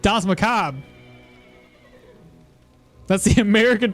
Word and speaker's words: macabre: French here also, yeah, the E is really not pronounced the same way the R is pronounced by rattling the palate, which is awkward for most people.